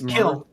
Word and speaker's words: Kiln: Yeah, and the thing is that, like, for example, I helped out with I'm gonna mispronounce this, the Clin. It's Kiln.